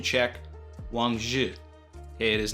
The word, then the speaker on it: Wang Zhi: To explain this, you do not pronounce the I in the name, just the ZH, so it sounds like the end of the word judge, DGE, Wang Zhi.